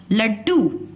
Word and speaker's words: लड्डू: लड्डू, ल, ड के नीचे हलंत लगाया, ड, समझ में आ गया, लड्डू। अब देखो ल का पूरा स्वर, पूरा उच्चारण सुनाई दे रहा है और डू का सुनाई दे रहा है, और जो ये बीच का ड है इसके उच्चारण में समय कम लग रहा है, इसलिए ये आधा ड है, लड्डू।